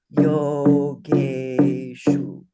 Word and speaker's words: Yogeshu: Yogeshu. See, that's a cerebral sibilant. So it's sh with the tongue up against the roof of your mouth.